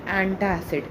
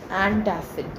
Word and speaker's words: एंटसिड: सी इट्स नॉट एंटा एसिड। इट्स एंटसिड ठीक है सी एंटसिड ठीक है सिड सिड इट्स